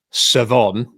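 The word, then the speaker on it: Shavon: because his name is spelt Chavon, but is pronounced Savon.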